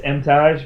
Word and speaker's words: Emtage: If I'm in Canada, it's Emtage because they pronounce it as the French would. Okay. Otherwise, it's Emtage.